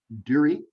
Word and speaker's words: Duerre: going to do it durie durie right yeah there you go bob awesome thank you happy to be here durie rhymes with jury right uh i'm really